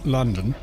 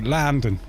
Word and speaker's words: London: And like in London, they would pronounce the two O's, London. So someone in received English would say London, but someone that lives there would say Landon. Where the O's actually sound more like an A.